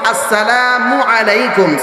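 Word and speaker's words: السلام عليكم: সালাম দিব আসসালামু আলাইকুম সালাম দেওয়ার সময় মিমের পেশ মিমের পেশের মধ্যে যখন উচ্চারণ করব মিমটা যখন উচ্চারণ করব তখন ঠোঁটটাকে গোল করে ফেলবো মিমের পরে আইনটাকে আইন মিমের পরে আইনটাকে সঠিক ভাবে উচ্চারণ করব আসসালামু আলাইকুম ওয়া রাহমাতুল্লাহ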